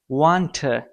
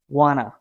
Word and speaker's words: wanna: Sure, you pronounce this like want, लेकिन आज के बाद आपने इसका pronunciation कुछ यूं करना है, wanna, wanna. The same. Instead of want, if you want to sound fluent, you have to say wanna, wanna.